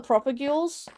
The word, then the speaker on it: propagule: Propagules. Propagules. There is no way I can pronounce that. Proper. Just say proper, and then ghoul.